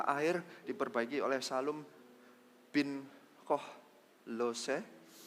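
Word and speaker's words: Kolhoze: Pintu gerbang mata air diperbaiki oleh Salum bin Kohlose. Saya hampir bacanya Koloke.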